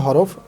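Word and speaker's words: ح: আমরা যখন এই হা উচ্চারণ করব, কিছুটা গলার মধ্যে চেপে আসবে। হা হা হা হা, ঠিক এরকম আসবে।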